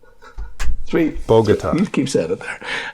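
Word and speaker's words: Bogotá: wrong bogota bogota guitar there's no tar in bogota um bogota that's what i said bogut that's what i said three bogota she keeps out of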